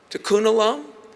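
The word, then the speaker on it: tikkun olam: Was it to to kunalum? I say it right. Tunalum repair the world.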